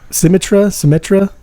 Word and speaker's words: Symmetra: I've been using I can't remember Symmetra.